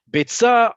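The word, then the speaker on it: ביצה: Beitza is spelled exactly like the word bitza.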